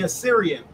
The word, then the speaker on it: Assyrian: Thou shalt he deliver us from the how you pronounce that word again? It's okay, brother. The Assyrian.